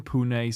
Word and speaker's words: Pune: last one is rising Pune super giant that is that's how it's pronounced pun it's true it's real